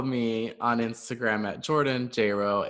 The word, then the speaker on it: Jayro: You can follow me on Instagram at Jordan Jayro. It's JordanJayro. It rhymes with J-Lo.